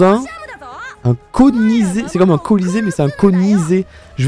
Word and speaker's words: Colisée: Ça se prononce colisée.